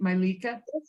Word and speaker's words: Mylica: my lika and am i saying it right malika yes you're good yes milika and what's your